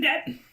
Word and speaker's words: debt: how the language works the b is silent why is a b